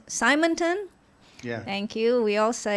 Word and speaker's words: Simonton: It was founded by John Simonton. Simonton? Yeah. Thank you. We all pronounce words differently across the world, so thanks for the correction. Simonton, were you a partner of PAIA or a